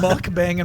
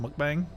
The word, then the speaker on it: mukbang: By the way, Secretary, is that how that term is actually pronounced, mukbang, or how is it pronounced? Yeah, that's how it's pronounced.